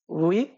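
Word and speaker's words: huit: seven pronunciation হলো set eight pronunciation হলো উইথ eight pronunciation হলো উইথ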